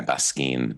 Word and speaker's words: Baskin: Basin.